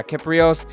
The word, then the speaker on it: Kyprios: The tweet that I'm talking about, that I'm bringing up, Nick Kyprios, I hope I pronounced. Yeah, Kyprios.